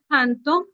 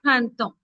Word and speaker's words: printemps: जब भी आप वर्ड देखोगे TEMPS, remember guys, P is silent, so it is le printemps au printemps.